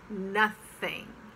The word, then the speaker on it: nothing: months it's month nothing it's not nothing nothing or nothing it's nothing relax the you next what it's